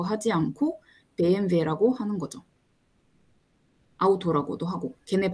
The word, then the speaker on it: BMW: 그래서 예를 들자면 영어식으로 읽는 거랑 본토 발음으로 읽는 거랑 영어 알파벳을 쓰더라도 발음이 조금 달라요. 그래서 BMW라고 하지 않고 BMW라고 하는 거죠.